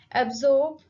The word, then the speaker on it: absorb: Absorb. Absorb. In this word, the stress is on second syllable, zorb.